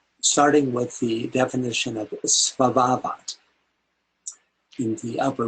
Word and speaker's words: Svabhavat: Phonetically, the word looks like sabahant. Is a world substance. It's svabhavat. Svabhavat.